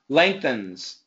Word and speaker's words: lengthens: lens lengthens lenon perfect keep the S it's actually a z sound lengthens lengthens good job lengthens